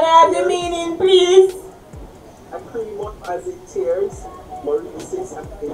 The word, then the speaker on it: lacrimorexis: Lacrimorexis as it tears.